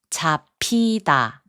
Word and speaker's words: 잡히다: 잡히다, which means to get caught, is pronounced as 잡히다.